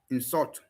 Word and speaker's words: insult: Noun version, stress on the first syllable. Verb version, stress on the second syllable. Increase and increase. Conduct, conduct. Insult, insult.